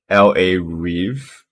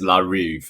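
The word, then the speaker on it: La Rive: or just LA, but LA Reeve Rock for Men. LA Vive? RIVE. RIVE. Rock for men. Larry, So it's La Reeve. It's not LA Reeve.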